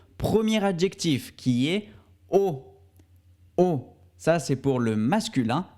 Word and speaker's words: haut: adjectif qui est au haut ça c'est pour le masculin on prononce au comme la lettre o en espagnol au et enfin haute